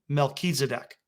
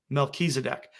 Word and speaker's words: Melchizedek: And this final little point here, with Jupiter being called Tzedek and Regulus being called Melech, if you put the two of them together, that would be pronounced Melchizedek. Melchizedek.